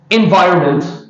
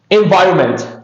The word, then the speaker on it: environment: Environment. Environment. Okay, we have agreed this this letter is silent. Environment.